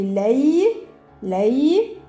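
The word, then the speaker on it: ليل: Ça fait lay. Lay.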